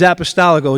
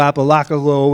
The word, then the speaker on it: Apostolico: All right, James Apostolico. It's amazing how it's Apostolico, Apolacolo, and all that good stuff. I wish I had $1 for every time it was mispronounced, but that's okay.